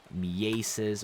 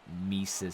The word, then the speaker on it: Mieses: It turns out his name is actually Johan Mieses or something like that. It's not Mises.